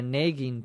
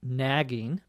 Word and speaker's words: nagging: or a naging pain in my dialect in Minnesota here in the United States I say naging but the more common pronunciation the more standard pronunciation is probably nagging nagging nagging see it's hard for me to say it nagging is n a g g iing and when we say